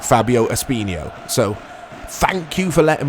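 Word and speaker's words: Fábio Espinho: basically and said Mike just say it like you say Ronaldinho Fabio espinho so thank you for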